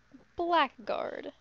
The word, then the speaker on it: blackguard: Abode behind me blackard blackguard I think it's still pronounced blackard even if it's spelled that way all right uh we